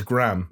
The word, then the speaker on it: graham: graham cracker it's great we don't say graham no jonesy it's it's graham cracker the same way it's laura croft okay no it's spelt graham they just don't say no it's gram it's gram and laura no